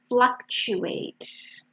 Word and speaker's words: fluctuate: And the last one, fluctuate. So the first syllable is an A, fla, and then the T sound is a ch, fluctuate. Okay, so let's see what you did, if you found the meanings.